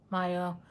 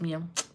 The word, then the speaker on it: Mia: Fairy, Mia, Maya. No, it is Mia. I said it right the first time.